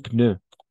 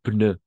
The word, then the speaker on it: pneu: Un pneu. Una llanta. Neumonía. Neumonía, o sí. Neumonía. Vamos a pronunciar las P's.